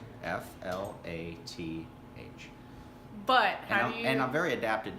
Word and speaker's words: Flath: the video yes you do okay excellent so flat it's a German European in the European mix